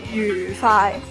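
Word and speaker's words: 愉快: 其实正确嘅读音咧，应该叫愉快，愉愉快。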